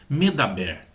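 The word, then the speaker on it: מדבר: Eu escrevo do mesmo jeito. Só que quando eu pronuncio medaber, significa falar. Quando eu pronuncio midbar, significa deserto. Não tem nada a ver uma coisa com a outra.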